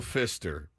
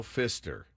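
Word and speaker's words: Pfister: a dream of Guido Fister he wanted to it's by the way it's spelled PF i s t r yes the p is silent it started as a dream of Guido Fister he wanted to have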